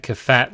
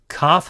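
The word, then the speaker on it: כ: Kaf, however, can have the dagesh, and if it does, it is pronounced K, like a K, kite.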